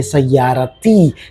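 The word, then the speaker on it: سيارتي: तो जब ता मरबूता वर्ड में हो और आप अगर कुछ अटैच करते हो तो अब आपको लास्ट में त प्रोनाउंस करना है। तो सयारा में आपको इ लगाना है। जो पैटर्न है इ ना अक इ कुम हु हा हुम ये पैटर्न चेंज नहीं होने वाला। तो इ आपको लगाना है बट बिकॉज़ ऑफ़ दैट ता मरबूता वो त साउंड प्रोनाउंस करना है तो इ हो जाएगा ती तो माय कार को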